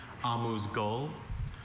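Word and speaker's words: amuse-gueule: I have a few pronunciations. Amuse Gul.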